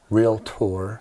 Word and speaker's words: realtor: Realtor. Yeah, 2 was syllables.